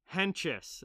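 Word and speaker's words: Hentges: Hang on, let me see the pronunciation here on how to say this. Henches, okay.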